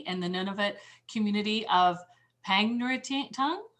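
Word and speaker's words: Pangnirtung: previously he coordinated a field school for trent university in the nunavut community of pang nuri tang how do you say it jeremy pegnerton thank you and undertook cabinet making birchbark community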